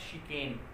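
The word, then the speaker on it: chicane: जो शिकेन है उसका मतलब छलना होता है, ये छलना है इसका मतलब छलना, और प्रोनाउंसिएशन होगा इसका शिकेन।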